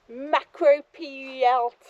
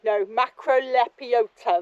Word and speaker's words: Macrolepiota: Macropiota or something. No, macrolepiota, that's how you pronounce it, I think.